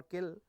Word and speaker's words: CIL: So, common language common language common intermediate language the common intermediate language is CIL CIL pronounced as either cell or kill formally called formally called